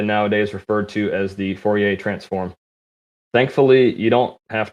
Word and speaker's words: Fourier: cool gangster named joseph fourier whose name i usually pronounce exceedingly american as warrior but he is nonetheless